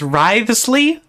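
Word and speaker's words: Wriothesley: Okay, I hadn't realized the pronunciation was Writhsley.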